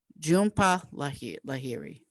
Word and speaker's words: Jhumpa Lahiri: That's Whereabouts by Jhumpa Lahiri. Excuse me, that's pronounced Jhumpa Lahiri.